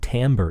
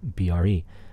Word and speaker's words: timbre: We'll also discuss what timbre is. Often mispronounced because it's spelled Timbre.